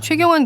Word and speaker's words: 최: 미국에서는 최 발음이 안 되고 초이라고 발음하기 때문에 네. 그걸 초이노믹스. 근데 우리는 최가 되는 발음이잖아.